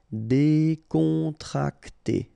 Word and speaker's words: décontracté: Okay, so you've got accent aigu here and here, so it's E. Décontracté.